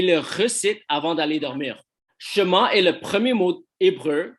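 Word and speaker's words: Shema: les appelait le schéma ça s'écrit a s h m a et on le prononce chemin alors il est considéré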